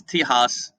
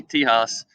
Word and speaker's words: Tejas: Texas, or is known as Tejas, spell it with the J, Tejas, was a Mexican state.